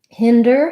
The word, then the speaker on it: hinder: let's take that word hinder has first syllable stress um and the letter i says the e sound like in it and is um so you'll